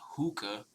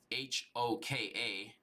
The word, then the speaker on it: Hoka: they're actually tapping in with a brand called Hookah. H O K A. I don't even know if I pronounced that right, but or or maybe it's Hoka instead of Hookah.